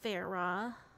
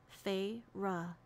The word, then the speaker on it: Feyre: She fixed her wide eyes on me and said, "Please, Feyre." She drew out the two syllables of my name, Feyre, into the most hideous whine I'd ever endured.